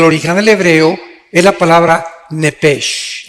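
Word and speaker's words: נֶפֶשׁ: Digo, por favor, esta palabra alma, en el original hebreo, es la palabra nepesh. Apúntala, como suena nepesh, con SH. Se pronuncia nepej.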